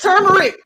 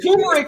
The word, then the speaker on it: turmeric: was tumeric it's turmeric oh shoot it is turmeric it is turmeric yeah i literally saw it as i saw it as tumeric on there i saw it as